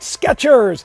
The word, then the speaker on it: Skechers: Pronounce it Skechers. There's a T in there. There used to be a T, no more.